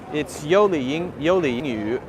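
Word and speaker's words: Yoli Yingyu: company, which is pronounced, it's Y-O-L-I and then Y-I-N-G, Y-U. That's our Gongzhonghao, our account. But it's hard for me to say the yu sound correctly. So it's yoliyingyu, but I often say yu instead of yoliyingyu, yu.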